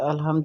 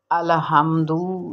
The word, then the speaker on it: الحمد: بعد الحمد پڑھتے ہیں۔ دیکھیں لام پر جزم ہے، الحمد للہ رب العالمین، جبکہ ایسے نہیں پڑھنا،